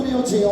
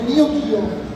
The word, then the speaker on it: Neo Geo: Ecco, io ho sempre detto Neo Geo, ma in realtà non è la pronuncia corretta, si deve dire Neo Geo, che vuol dire nuovo mondo dal greco. In Giappone lo dicono così.